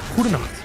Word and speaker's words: Goedenacht: Goedenacht.